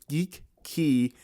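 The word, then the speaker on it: Geekey: Uh it's made by Geeky. So it's spelled like geek and key put together. So I have this Geek Key uh keychain multi-tool.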